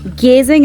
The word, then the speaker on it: Geyzing: Geyzing is the correct pronunciation. Ghasing is the name of the district. You will be brought there. Then you have to come to Pelling from Geyzing.